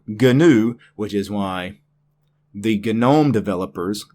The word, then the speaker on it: GNOME: everything else that I may or may not pronounce correctly. GNOME. It is, in fact, GNOME. The desktop environment is called GNOME.